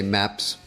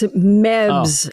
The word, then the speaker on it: Mebs: get mad and say MEPS? Say what? MEPS. MEPS. What do you say in Coneheads? MEPS. It's MEBS. MEBS. MEBS. Wow. MEB. I've been saying it wrong.